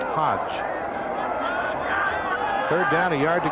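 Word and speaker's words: Hoge: Hodge spells his name H-O-G-E, but it's pronounced Hodge.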